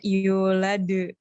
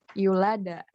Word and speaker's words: yulad: Kan biasa yulade. Kita biasanya baca terus. Tapi seharusnya bacanya kayak yulada. Kayak terdengarnya kayak seperti fathah gitu, bukan de gitu.